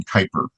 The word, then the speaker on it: Kuiper: The new she one pronounces her last name Kuiper.